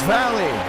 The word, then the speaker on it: Valle: And we are getting the correct pronunciation. It's Valley. Diego Valley.